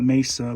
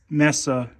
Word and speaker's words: Mesa: believe these are from Messa Arizona a lot of people call it Mesa but it's Messa you know that's the